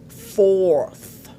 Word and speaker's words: fourth: Beaucoup de francophones ont des difficultés à prononcer cette consonne. Aujourd'hui, je voudrais que ça s'arrête pour toi. Dis avec moi. Third, fourth.